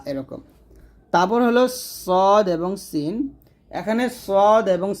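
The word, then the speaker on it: ص: scene হবে পাতলা অর্থাৎ সদ যখন উচ্চারণ করবেন মুখটা ভরে যাবে মুখটা ভরে উচ্চারণ করতে হবে সদ আর সিনটা পাতলা করে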